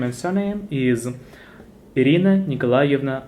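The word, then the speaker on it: Николаевна: That middle one is tricky. How you pronounce it? I would say maybe Nikolaevna. No. Nikolaevna. Eva. So it will be Nikolaevna.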